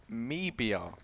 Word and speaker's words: MIBR: I fancy said Bryn in Brazil we pronounce it me BR but I don't know